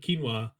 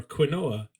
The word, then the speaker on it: quinoa: Yeah, this is like I know enough about couscous now as in the same way that I now know enough about quinoa or quinoa, as I called it very frequently when I had no idea how to pronounce it.